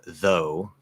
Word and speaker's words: though: we say like uh though if you actually spell it fully a lot of people just put tho these days which is informal writing but um that's the silent gh as well it's just oh so